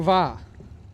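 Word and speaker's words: Via: Va. Spell the last name, though. It is spelled V-I-A.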